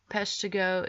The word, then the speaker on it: Peshtigo: e fire Great Chicago Peshtigo is 3 syllables like paradise Peshtigo and tubs so